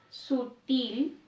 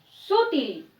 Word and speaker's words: sutil: Y si yo pronunciara también de manera inadecuada o errónea, sutil, cuya fuerza está en til, si lo pronunciara inadecuado sería sutil, sutil.